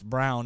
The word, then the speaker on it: Braun: they called him Christian Braun I said it's brown and the rest of the time that was